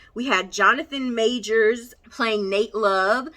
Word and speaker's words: Nat Love: had jonathan majors playing nate love spelled like nat love but apparently it is pronounced like nate we had zazzy beats